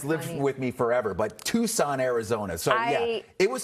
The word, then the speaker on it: Tucson: I was in a city tu su and I pronounced it tux. Tuxen. Oh my gosh. And it like has lived with me forever, but Tucson, Arizona.